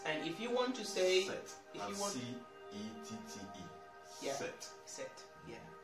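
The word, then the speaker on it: cette: Set. Set. Yeah. It's pretty much the same pronunciation with the number seven.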